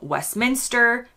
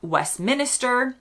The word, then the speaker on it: Westminster: of them in London including Westminster not Westminister Lester not leer or however